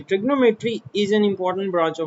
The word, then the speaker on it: trigonometry: को हम बोलते हैं ट्रिग्नोमेट्री। अब इसकी सही प्रोनाउंसिएशन है ट्रिगोनोमेट्री। ठीक है, क्या सही प्रोनाउंसिएशन है? ट्रिगोनोमेट्री। ठीक है, हम चलें ट्रिग्नोमेट्री भी पढ़ लेते हैं। ट्रिगोनोमेट्री सही वर्ड है इसका।